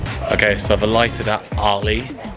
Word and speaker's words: Arley: Okay, so I've alighted at Arley, which sounds like you're saying my name in an American accent.